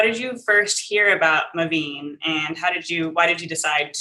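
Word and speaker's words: MaVynee: Can you tell us how to pronounce that name? Yes, Mavine.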